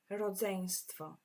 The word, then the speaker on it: rodzeństwo: So when you introduce your siblings to somebody, you will say, to jest moje rodzeństwo. And this one is quite tricky to pronounce. Try with me. Rodzeństwo.